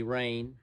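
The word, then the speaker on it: Rayne: that he actually was his first name is spelled r-a-y-n-e rain sometimes i spell it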